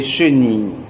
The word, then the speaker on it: chenille: La I se pronuncia como Ia. Yes.